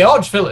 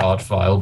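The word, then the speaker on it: Arch-Vile: So the Archville is around here somewhere. Must be. And I know we're supposed to pronounce it Archvile, but I'm just in the habit of it now.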